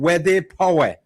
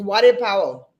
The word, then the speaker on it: Wade Powell: Is that the right pronunciation? Wede Power. It's Wade Powell.